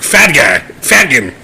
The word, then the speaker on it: fhtagn: It's like FHTAGN. It's like Fadgan.